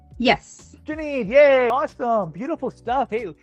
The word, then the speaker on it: Janine: And it's pronounced Janine? Yes. Janine, yay, awesome, beautiful stuff.